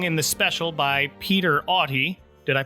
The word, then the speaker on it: Auty: The song Walking in the Air is sung in the special by Peter Auty. Did I pronounce that right? I think it's Auty.